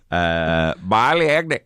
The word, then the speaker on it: Bali: Bali. That's how it's pronounced in the Indonesian language. That's how Rastafarians pronounce it.